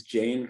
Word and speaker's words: Jain: It's the Jain Studies program. Did I pronounce the Jain right?